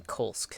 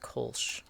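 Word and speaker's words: Kolsce: Also, I gotta stop calling him Kolsk, now that I know that it's pronounced Kolsch. What language is that from? I wonder what name. Oh. Like, what pronounces SC as sure?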